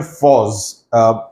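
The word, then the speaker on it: Forres: Now, this is taking place a camp near Foz. The way it's pronounced is almost as if the spelling would be F-A-U-Z.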